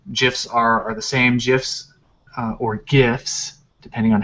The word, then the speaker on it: GIF: a png um gifs are are the same gifs or gifs depending on how you want to pronounce it jif is the correct pronunciation um so a gif